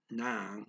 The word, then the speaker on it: ng: At, nang, spelled N-G.